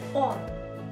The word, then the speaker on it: он: difference okay let's continue he in Russian will be on it's very similar to the preposition on isn't it on on the